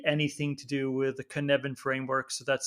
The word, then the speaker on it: Cynefin: And then I would also read anything to do with the Cynefin framework. So that's spelled Cynefin with a Cynefin by Dave Snowden